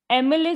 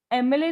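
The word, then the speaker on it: MLA: है एक vowel sound एमले जैसे देखो एमले तो एम लिखा हुआ है तो अगर आप ध्यान से सुनोगे एमले तो ए मले ए की आवाज आती है पहले फिर म की आवाज आती है ए मले तो ए भी है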